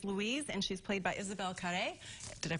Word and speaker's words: Isabelle Carré: And then this woman comes along, and her name is Louise, and she's played by Isabelle Carré. Did I pronounce that right?